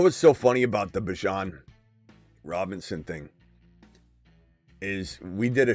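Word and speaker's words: Bijan Robinson: Then I don't know, Jonathan, we're going to send you on a lap then because that's how you say his name, Bjan Robinson.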